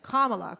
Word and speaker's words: Kamala: have to practice it like 10 times it's kamala kamala kamala harris uh i don't think even